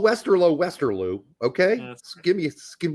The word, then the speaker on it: Westerlo: I said it's not Westerloo, it's Westerlo. You're getting it confused with Waterlue, which has two O's. Westerl low has one O pronounced differently.